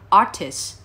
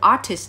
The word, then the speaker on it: artists: Hãy đọc nó giống như "artis". Và trường hợp cuối cùng, trường hợp thứ ba, nếu từ "artists" đứng ở cuối câu,